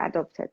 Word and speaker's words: adopt: Paternity leave, maternity leave, and adoption leave means time away from work to prepare for and look after a new baby or adopted child.